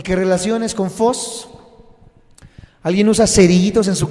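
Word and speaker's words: φως: de que lo apunten es fos pero se escribe ph en vez de F pH Y esa es la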